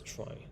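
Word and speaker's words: trie: from retrial um but it's pronounced as try not tree okay so here is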